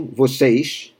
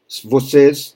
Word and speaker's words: vocês: And you, plural, vocês, or vocês. Vocês, standard pronunciation, vocês, from Rio.